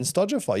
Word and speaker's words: Stojafy: So then Stojafy. You said it right. Everyone's like, oh, Stojafy. I'm like, no, motherfucker. No. Spotify. Do you say Spotify? Shopify. Do you say Shopify? No, you say Shopify, Spotify.